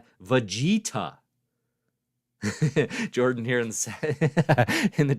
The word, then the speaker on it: Vegeta: vegetta I'm seeing V Vegeta Jordan here in in the chat says it's pronounced Vago vagito very well done okay